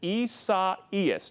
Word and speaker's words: Isaias: practicing for a while the i name storm is isaias now there are some variations of that in the latin and mexican community and i am definitely not an expert on that but isa is is generally the agreed upon pronunciation of what could be